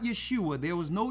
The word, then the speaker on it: Yeshua: Yes, not I. That's Isaiah with an I sound. That's a different letter.